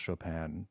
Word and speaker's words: Chopin: the end but it's it's spelled c-h-o-p-i-n but it's pronounced Chopin like s-h-o-p-a-n is kind of How